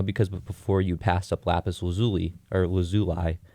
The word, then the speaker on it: lapis lazuli: them up man well steven universe pronounces it lapis lazuli so if season if steven universe says it then it has to be true you know